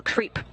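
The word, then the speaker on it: KREEP: they have a weird component that we call creep and it's spelled k re e e p in sense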